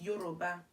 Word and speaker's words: Yoruba: My native language is Yoruba. They don't say it like that. It's Yoruba. How do I say it in English? Yoruba.